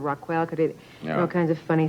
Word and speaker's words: Raquel: that was actually because most people I don't think could pronounce Rockell instead of roquel they all kinds of